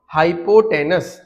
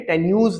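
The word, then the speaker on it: hypotenuse: Spelling देख लीजिएगा आप लोग, हाइपोटेनस, TENUS, हाइपोटेनस, ठीक है, टेन्यूज नहीं, हाइपोटेनस।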